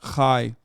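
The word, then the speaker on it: חי: No, it's a Hebrew symbol. Not AT. It's not ATAT. Okay. It's pronounced chai.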